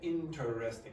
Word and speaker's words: interesting: you will get interesting but that's not how native speakers generally pronounce it how they pronounce it interesting so that e disappears after T so you get i n not in n t r it's interesting and that happens all the